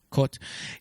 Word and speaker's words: Kurt: too super German yeah that's how you pronounce it in German cot C this actor he's